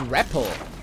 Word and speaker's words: rappel: It's pronounced similarly to repel.